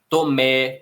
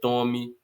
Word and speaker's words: Tomé: Tomé, que sem acento também seria tome.